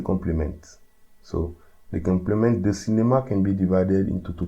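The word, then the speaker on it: cinéma: So we pronounce it cinema, and it's a masculine noun.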